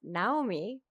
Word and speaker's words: Naomi: Although she did tell me that it's pronounced Naomi, but then she told me not to say it.